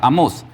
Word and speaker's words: Amós: Es del profeta Amós. ¿Y cómo se dice amó en el hebreo?